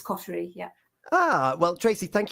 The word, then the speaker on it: Coterie: So yeah, we tend to say cotery in this country, but yeah, it's derives from a French word, so it's coty.